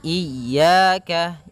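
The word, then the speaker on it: إياك: na'budu wa iyyaka nasta iyaka pada lafal ya ini hati-hati dalam pelafalannya ada dua kesalahan yang sering terjadi yang pertama yaitu dia memanjangkan Iya nah seperti itu itu harusnya dia ee ditekan dan dilembutkan iyaka iyaka nah kemudian jangan sampai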